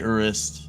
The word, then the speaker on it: Urist: for you can say you can say urist or but yeah it's like Ur it's like one syllable almost it depends on you